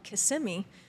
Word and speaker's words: Kissimmee: There's another town called Kissimmee that if you're not from Florida, you want to say Kissimmee. So it's just pronounced in different ways.